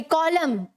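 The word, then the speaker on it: column: नहीं क्या बोलते हैं मिथ एक कॉमन सॉरी कॉलम ठीक है तो यहां पर एंड साइलेंट है एवं नहीं इन साइलेंट है वैसे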